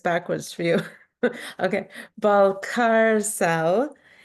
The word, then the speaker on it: Balcárcel: backwards for you okay ball car cell and it's like the ball in the car and you're not on